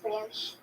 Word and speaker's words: brioche: Pretty sure it's pronounced brioche. It gets It's popular. French. It's pronounced brioche.